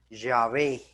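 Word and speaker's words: Yahvé: y que los eruditos los expertos creen que se debió pronunciar llave yo soy llave yo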